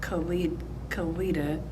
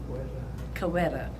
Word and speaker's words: Koweta: My dad did not pronounce the name of Koweta. He used to say, Koweta. And he never said Koweta, it's Koweta.